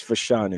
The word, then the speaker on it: Fashanu: that's all I'm saying fashanu did we go for show it's fashanu how how how busy